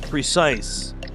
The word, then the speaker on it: precise: It's seven letters, two syllables, begins with the letter P. And another clue, the second syllable rhymes with nice.